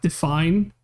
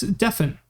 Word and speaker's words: Deen: burned out so yeah I'm glad you pronounced Deen the same way I do instead of Define it's Deen like come on like a couple of people fast like if people call him Define then they uh they don't know how to pronounce his name you like the a4b